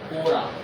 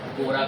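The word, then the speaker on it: Quora: कोरा अब क साइलेंट मान लो कोरा करके उसको पढ़ा जाता है।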